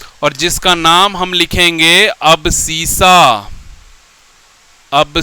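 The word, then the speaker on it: abscissa: से जानते हैं और जिसका नाम हम लिखेंगे अबसीसा। अब स्पेलिंग क्या होता है जी?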